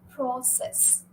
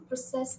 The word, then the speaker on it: process: then you'll stress the first syllable so you'll say process okay this is a hectic process okay so process is now but if you're going to use the word as a verb then you'll stress the second syllable uh you'll say I'm